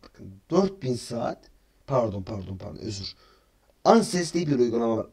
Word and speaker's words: AdSense: Anses diye bir uygulama var. ADSNS diye bir okunuyor. Anses diye okunuyor bakın.